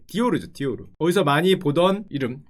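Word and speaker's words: Dior: 그때가 누구였냐면은 프랑스에는 당시에 프랑스 패션계를 주름잡던 두 사람이 있었는데, 한 분이 크리스찬 디오르, 발음이 좀 굴러가야 되는데 디오르죠.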